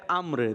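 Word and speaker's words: عمرو: असल है अम्र।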